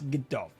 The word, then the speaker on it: Gdov: at the end, but it's not actually a B, it's a V sound. So that's Gdov.